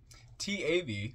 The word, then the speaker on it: Tav: hearts comment on toab t AV pronounced Tav transcribed as th the